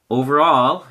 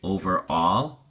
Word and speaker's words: overall: just listen and watch over all has three syllables and your emphasis or stress is on the third syllable all so we say overall overall and it is used